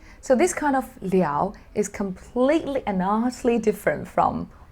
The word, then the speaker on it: 了: on to it so here this character is pronounced as leo so this kind of liao is completely enormously different from all of the